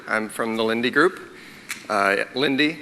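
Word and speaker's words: Linde: my colleagues at the Lindy Group have developed, and I'll show you all the details. I'm from the Lindy Group. Lindy, not Lind, rhymes with bagel.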